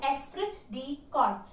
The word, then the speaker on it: esprit de corps: the next point s will it be God Fatih pronounced it is called esprit de corps what does it mean